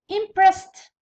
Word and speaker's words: impressed: Next used، used the used adjusted id adjusted hoped hoped to يقبلها ال p hoped impressed impressed to كيف كيف خاطر قبلها س كيكون قبل س قبل الايدين نطقوها to impressed.